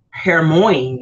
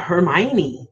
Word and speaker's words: Hermione: the world knows that it looked like her Moines or whatever her morning so yeah Hermione good night who would